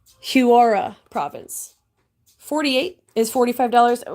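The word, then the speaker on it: Huaura: how to pronounce it I was saying it's not Horan it's h-u-a -u-r-a so huara province 48 is 45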